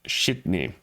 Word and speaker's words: Sydney: but it is pronounced shitney that is the North Eastern or the Nova Scotia pronunciation of uh Sydney is Sydney okay kids